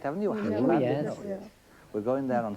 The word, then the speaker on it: Llandudno: Llandudno, Yes.